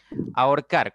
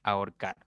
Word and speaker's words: ahorcar: de analizar este tema ahorcar Cuántas sílabas tiene tres tres Okay ahorcar muy bien dijimos que la H no interviene en nada no interfiere en nada porque es muda entonces debe separarse la